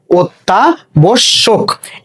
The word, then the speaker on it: অত্যাবশ্যক: এবার খেয়াল করো তালব্যস্যর সঙ্গে জফলা আছে। তাহলে তালব্যস্য কয়টা হবে? দুইটা হবে, দ্বিতীয় উচ্চারণ হবে। আমরা লিখলাম যে তালব্যস্যয়ে ওকার ক কয়ে হসন্ত, তাহলে উচ্চারণটা কি হচ্ছে অত্যাবশ্যক।